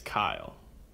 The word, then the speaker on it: Kyle: dir for in landed so the correct pronunciation of my name is Kyle Kyle but people get it